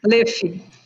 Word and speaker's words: Leff: Bem, a doutora Luiz Caroline Campos Low, você pronuncia Low, seu nome, sobrenome? Leff. Como? Leff. Leff, ok.